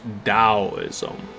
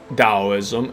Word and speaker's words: Taoism: I know this says T, but I once heard that it's always pronounced Taoism, meaning Tao, the way. So he founded Taoism, and authoring the Tao